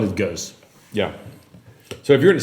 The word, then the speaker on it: Geuze: It's Geuze. I think the genuine Flemish pronunciation would be Geuze. Yeah, because I've talked to a friend of mine. He's like, "Oh, you're like the Geuze." I'm like, I don't know what that was. G's in real Flemish are G.